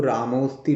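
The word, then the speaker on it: रामोऽस्ति: इसको रामोस्ति पढ़ेंगे। ये खंडाकार जो है इसका उच्चारण नहीं होगा एस जैसा जो दिखता है, ये केवल ये बताने के लिए है कि यहाँ पे आ था जिसका लोप हो गया है।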